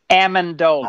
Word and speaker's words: Amendola: Mandela is I can't say his name Danny Amendola and Amendola thank you I think I can